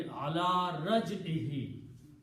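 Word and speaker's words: عَلَى رَجْعِهِ: a kasra, raj'i, and for pronunciation we'll pronounce this he also, so it will be ala raj'ihi, upon his return.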